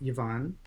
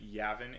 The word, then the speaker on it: Yavin: And that included a deity known as Yvonne. Just a quick correction. Yavin is the pronunciation.